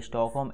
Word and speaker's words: Stockholm: ठीक है, स्टॉकहोम L silent होता है, तो इसकी राजधानी स्टॉकहोम है।